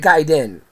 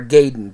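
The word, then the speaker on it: Gaiden: on didn't own it Ninja giden or gayen depending on how you say it uh just knowing what I know about Japanese because I studied in college I'm I'm inclined to say gayen based on the spelling because giden would be GE i d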